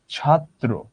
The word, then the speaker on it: ছাত্র: যেমন ধরো ছাত্র, এখানে ত এর সঙ্গে রফলা আছে, দেখো ত দুইবার আসলো।